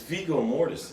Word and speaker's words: Viggo Mortensen: Vizio? You can't pronounce Vizio. Vizio anybody's Mortensen. name. Yeah. Well, no, it's Viggo Mortensen.